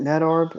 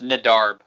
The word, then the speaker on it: Nedarb: Like, I mean, like any Peep collab with Net, is it Netarb? Am I butchering that? It's Brendan backwards, yeah. It's Nedarb is how I always pronounced it. Nedarb.